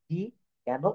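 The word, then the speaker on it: talk: কে এটা লিখলে কিন্তু টলক হয়ে যায় কিন্তু আমরা ওই এল হচ্ছে এখানে সাইলেন্ট লেটার এল কিন্তু আমরা এখানে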